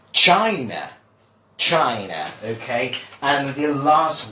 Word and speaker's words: China: Well, many people do say China, or obviously trying to, emulate or imitate the Spanish pronunciation, but this is China.